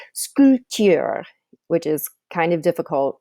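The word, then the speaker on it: sculpter: little goofy in French they do not pronounce the letter P okay that letter P there in the middle of silent so it's scooty R which is kind of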